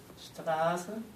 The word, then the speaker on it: Straße: Straße. Okay. You want to come here? No. Okay, so we have two sounds here. We have a soft F, we have a sh, right?